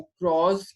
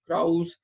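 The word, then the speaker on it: Krause: मैं जो again यूज करता हूँ आपका जो क्रॉस का 14th एडिशन है, क्रॉस या लॉट of people call it क्राउज, whichever way you may want it to pronounce.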